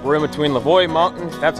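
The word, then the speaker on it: Leveaux Mountain: that looks good all right we're in between lavoy mountain that's how you pronounce it and uh holberg so beautiful day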